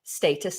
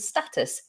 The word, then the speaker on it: status: differences they are minor there are some pronunciation differences like status and status schedule schedule there are a few